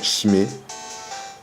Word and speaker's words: Chimé: Voilà, Chimé. On peut prononcer Kimé aussi.